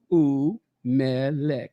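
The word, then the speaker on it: וּמֶלֶךְ: So the initial oo is always treated as its own syllable.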